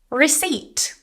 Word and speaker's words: receipt: I need a receipt. Silent P.